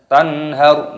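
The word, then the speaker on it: تَنْهَرْ: Tanhar, nun sukun bertemu dengan ha, hukumnya dibaca idhar halqi. Cara membacanya dibaca jelas. Tanhar, tidak boleh berdengung.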